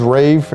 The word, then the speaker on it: RAEV: I'm pronouncing it correctly r-a-e-v I'm assuming is Rave and their hashtag is